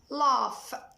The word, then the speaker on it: laugh: طيب إذا جاءت في آخر الكلمة، إذا الجي والاتش جم في اخر الكلمه برضو بنطقهم ف، بنطقهم حرف الفاء. زي كلمه ايه؟ ها laugh.